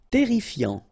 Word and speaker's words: terrifiant: Terrifiant. Final T not pronounced. Double R here, so it will open the pronunciation of your E, and then it will be E.